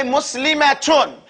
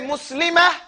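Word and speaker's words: مسلمة: Likewise, if you were continuing, you would say Muslimatun. And you pronounce the ta marbuta like it's a ta. But if you stop and you say Muslimah, now you don't stop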